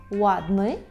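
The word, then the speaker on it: ładny: Наприклад, у слові «ладни», «ладни», так? «Ладни» – це не «ладни», це не «вадни», це «ладни». І знову ж таки, щоб отримати цей звук, обов'язково потрібно витягнути губи у трубочку. «Ладни» – гарний, «латви», «латви» – легкий, «ладни», «латви».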